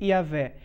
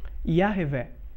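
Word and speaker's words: Yahweh: de Deus é yahvé em letras hebraicas iud rei vav rei pronuncia-se yavé mas se foi pronunciado de maneira mais pausada a pronúncia certa é y revé o nome de Deus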